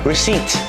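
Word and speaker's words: receipt: ซื้อ ตู้ นะ ครับ ลิสซิ่ง นะ ครับ ผม ตัว P ไม่ ออก เสียง ชวน อิน วอย Invoice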